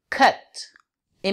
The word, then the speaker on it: cute: Cut. Et maintenant, si on rajoute un E à la fin, C-U-T-E, ça va faire une diphtongue et ça va être cute.